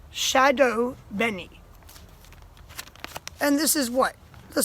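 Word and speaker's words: shado beni: the subtitles turned on right now this is pronounced Shadow Benny and this is what the subtitles probably told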